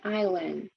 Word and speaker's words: island: trong từ sign, không phát âm S trong island và không phát âm từ W trong who.